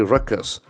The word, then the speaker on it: ruckus: not for prob assembly Ruckus r-u-c-k-us that is a very important word Ruckus Ruckus excellent falls on this first syllable records it's a noisy